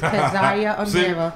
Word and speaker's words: Keziah Amirra: It's okay, it's KEZIAH AMIRRA.